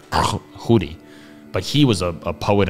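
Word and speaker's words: Tschudi: was like t-s-c-h-u-d and if i know how swiss germans pronounce it something like hoodie but he was a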